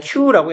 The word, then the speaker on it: queue: in a queue 이거 그냥 queue라고 읽으면 돼요.